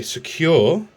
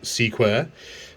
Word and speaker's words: Sequre: i got it today it's a secure that's how apparently it's pronounced s-e-q-u-r-e or square uh es126 i got off